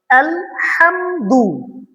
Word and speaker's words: الحمد: الحمد لله رب العالمين এখানে একটা জিনিস খেয়াল করতে হবে আলহামদু আলহামদু এখানে ছোট হা করা যাবে না এখানে আমাদের হায়াহুত্তি যেটা বড় হা আছে এটা উচ্চারণ করতে হবে আলহামদু এটা মারাত্মক ধরনের ভুল অবশ্যই আমরা এই জিনিসটা